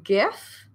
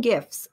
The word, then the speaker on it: GIF: I'd rather include a GIF. I always confuse because I call it GIF, but I've had conversations with people who say, no, it's GIF. It's a hard G.